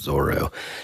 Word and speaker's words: Zoro: And so he wrote it, the English translation is Zolo, but it's pronounced Zoro in the anime and everything.